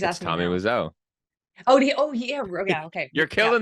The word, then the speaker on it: Wiseau: How you pronounce his last name? Tommy Wiseau.